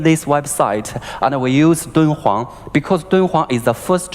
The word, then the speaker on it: Dunhuang: DH, that's the short for the Chinese pronunciation, Dun Huang, Di, Dun Huang, H.